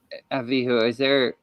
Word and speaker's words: Abihu: no, sorry, but so the Nadab and Abihu, is that how you say it? Yeah. They Avihu. Avihu, are they wearing coats?